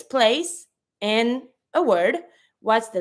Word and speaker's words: place: Same for place. Place, I say. I don't pronounce my last E, but because there's a E after my C, I'm going to pronounce my C with the S sound.